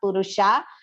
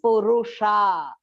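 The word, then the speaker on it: पुरुष: should be pronounced properly it is not purusa it is purusha and both the poo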